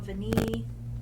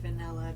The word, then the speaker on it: Vanille: Number 3, I have Tom Ford Tabacco Vanille, and I have been saying it wrong in all my past videos. I've just been saying vanilla because I'm special.